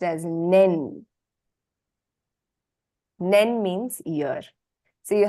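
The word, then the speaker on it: 年: So this kanji is pronounced as nen.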